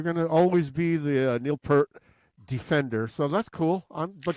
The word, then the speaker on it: Peart: No, you know, that's- like that's- it's that's his- pronounced Peart.